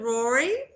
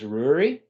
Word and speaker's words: Ruairi: I was 6, so the Gaelic pronunciation is Ruairi, but in my attempts to fit in Townsville, I took on Ruairi because it was a lot easier for people to say. Yes. Okay. Ruairi.